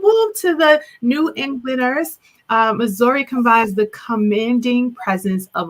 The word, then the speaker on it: Mzuri: It's it's a unbelievable story because first of all, let me just say, you pronounce my name Mzuri. I know Americans, we want to do that hard M, but it's Mzuri, it's Mzuri.